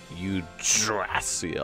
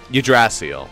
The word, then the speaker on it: Yggdrasil: Yggdrasil, that's how you say it. Like, you barely pronounce it, so like, Yggdrasil. It's like the G's are silent.